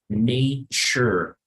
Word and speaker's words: nature: En esta palabra no vamos a leer na, sino se pronuncia como ne. The second thing is that here the T and the U sounds more like a ch, right?